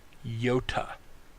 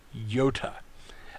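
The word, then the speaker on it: iota: the following letter is yota yota this would be I as in Pitt or double e sound as in feet context on how we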